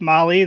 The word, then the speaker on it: Mahle: And for all the podcast listeners out there, Molly is spelled Mahle. Oh, yeah. So with Molly, their award this year is going to be for the toughest roadside repair.